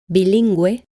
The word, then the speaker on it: bilingüe: When the U is pronounced, the U is written with 2 dots on top of it. This is called an umlaut, or in Spanish, diéresis. Then it is pronounced like this. Bilingüe, pingüino. Whenever a G is followed